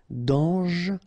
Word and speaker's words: dangereux: Final X not pronounced, and then don't really pronounce this E here. Okay, so you get dangereux.